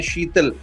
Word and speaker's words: Shetall: आपका भी जो नाम है शीतल, अगर वो प्रोनाउंस करे SHITAL होता है, लेकिन आपका अगर देखे SHETALL, तो ये नाम में